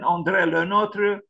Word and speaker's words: André Le Nôtre: This is the pronunciation. André Le Nôtre, born on the 12th of March, 1613.